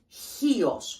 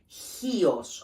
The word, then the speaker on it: Chios: But it's, the proper pronunciation is Chios with an H. Chios, okay?